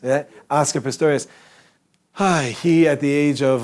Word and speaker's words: Pistorius: Pistorius? Yeah? Oscar Pistorius.